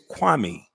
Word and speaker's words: Kwame: years you clown and everybody in the world can say my name it's easy it's kwami or was your daddy